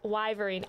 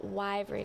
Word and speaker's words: wyvern: eye i think yeah it's it's wyverine oh wyvern i'm gonna remember this i am going why why vern i said wyvern i still said it wrong why ver i'm gonna